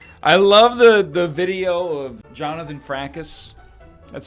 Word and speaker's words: Jonathan Frakes: I love the video of Jonathan Frakes. That's how it's pronounced, Jonathan Frakes, but it's just the clip of him asking all those rhetorical questions.